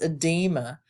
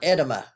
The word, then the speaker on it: edema: these correctly for example this is edema not edema so you need to